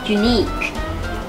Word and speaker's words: unique: อะไร ดี โอเค ค่ะ ที่ ถูก นะ คะ unique unique unique มี คน อ่าน ออก ว่า uni You No unique unique นะ คะ แปล ว่า มี